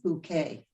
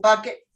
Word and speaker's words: Bucket: Bouquet. Oh yes. Oh, that English one, right? Yeah. Where she pretends it's pronounced bouquet. Hi, Mrs. Bucket.